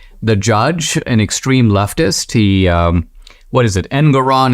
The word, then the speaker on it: Engoron: The judge, an extreme leftist, Engoron, is that the guy's name? It rhymes with moron.